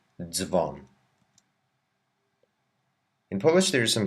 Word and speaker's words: dzwon: We need to pronounce each sound z whenever it doesn't have an I, as in bardzo or dzwon.